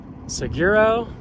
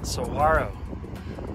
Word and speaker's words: Saguaro: to sawyo national park so some people say seguro but it's actually pronounced soharo so those are the famous large cactuses symbol